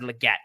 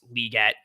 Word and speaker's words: Legette: single person who did anything with him said Legette Legette Legette and then Goodell said liette and then apparently the Panthers put out a tweet that said it's pronounced liette so I'm just going to call him Xavier